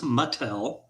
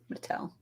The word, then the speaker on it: Mattel: That's the company, and that is correct, and it's pronounced Mattel. Mattel.